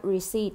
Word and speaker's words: receipt: อ ก เ สี ย ง ว่ า receipt น ะ ค ะ receipt ตั ว นี้